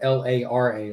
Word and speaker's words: Laura: But she goes by Laura, not Laura, but Lara, like Superman's mom, Superman's daughter in the Miller universe.